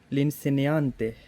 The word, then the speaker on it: l'insegnante: लिनसेनियांते, उस्ताद को कहते हैं, ये आर्टिकल है एल इन सेनियांते, जी इसमें साइलेंट है, और आवाज़ कैसी इसने